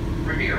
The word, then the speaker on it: Revere: midnight ride of Paul Revere Revere rhymes with hair the Prescott don't well mr.